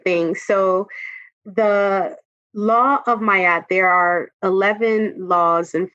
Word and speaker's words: Ma'at: So the law of Mayat, there are 11 laws and 42 principles of Mayat. And it's spelled, for your listeners who may want to look it up, it's spelled MA apostrophe AT.